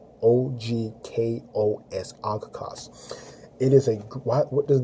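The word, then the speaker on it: ὄγκος: That's a Greek term that it is literally pronounced ogkos. O-G-K-O-S, ogkos.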